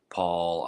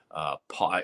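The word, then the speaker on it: Pål: Paul, I guess you pronounce it Paul. It's the P-A-L, but it's got those 2 dots over the A.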